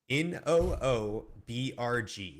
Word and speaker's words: Newburgh: says that it's Newburgh. It could be. And funnily enough, the pronunciation, actually, you're supposed to get rid of the U too. It's Noobrg. So the thing is, it's in New York, right?